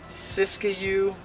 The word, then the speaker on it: Siskiyou: This is a Siskiyou blackberry. It's spelled S-I-S-K-I-Y-O-U, Siskiyou blackberry.